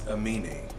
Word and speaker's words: Aminé: Could y'all put how to pronounce it down in the comments, because I don't know how to pronounce it. It's Aminé.